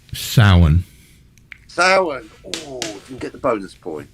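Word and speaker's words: Samhain: return that would be october 31st somehow aka summon burn now known as halloween or war hallows eve correct and for the record it's pronounced sauen get the bonus point it's welsh no i'm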